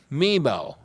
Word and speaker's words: Memel: So with that, Memel, that's how you pronounce it, right?